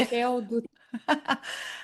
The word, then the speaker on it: Raquel Dutra: I want everyone to know how to correctly pronounce it. Okay, so this is my take. Yeah. Raquel Dutra.